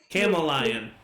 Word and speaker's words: chameleon: was gonna chameleon oh it's pronounced camel lion your language is beautiful